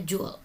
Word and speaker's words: joule: itu punya satuan Joule tulisannya Joule dibacanya Jul ini adalah nama penemunya